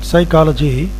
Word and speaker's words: psychology: In the third example, psychology, P is silent, that is waste letter.